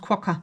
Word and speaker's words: quokka: I think it's pronounced quokka.